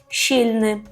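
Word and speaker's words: silny: і все дуже добре тільки пам'ятаємо про вимову першого складу щі щільни єстеш щільни тобто Ти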